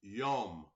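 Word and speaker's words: יום: It says, pronounced yom, from an unused root meaning to be hot, a day, as the warm hours, whether literally from sunrise to sunset.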